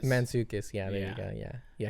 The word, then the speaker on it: Mantzoukas: I don't know how to say his last name, but it's like Jason Mantzoukas. Mantzoukas, yeah, there you go, yeah.